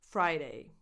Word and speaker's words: Friday: Friday. You start with fry, so you have a diphthong, I as I in the alphabet.